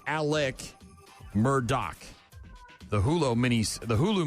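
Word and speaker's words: Murdaugh: It's actually pronounced Alec Murdoch.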